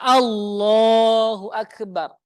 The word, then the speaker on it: Allahu Akbar: ada yang panjang maka Takbir yang benar adalah Allahu akbar diawali dengan a Allahu Akbar bukan o Allahu Akbar bukan ya dan hari